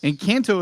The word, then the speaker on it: Encanto: Encanto has won the Golden Globe for Best Movie Picture, Best Motion Picture for Animation.